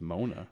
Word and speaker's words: Moana: and am I pronouncing that right? I think it's just Mona.